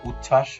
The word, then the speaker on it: উচ্ছ্বাস: যেমন সান্ত্বনা এখানে সংযুক্ত ব্যঞ্জন ধ্বনি আছে নয় তো এর সাথে বফলা যুক্ত আছে এই বফলাটা কিন্তু উচ্চারণ হয়নি সান্ত্বনা একেবারে উচ্ছ্বাস উজ্জ্বল ইত্যাদি বফলা উচ্চারণের নিয়ম তিন শব্দের মধ্যে বা অন্তে বফলা